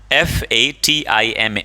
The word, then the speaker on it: Fatima: फातिमा, FATIMA, Fatima, Fatima, right?